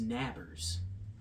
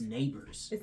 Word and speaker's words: Nabers: mispronouncing his name but I said nabers neighbors it's neighbors but it's not even spelled like neighborhood or neighbors like you live in beside neighbors it's spelled n a b r s neighbors very unique I like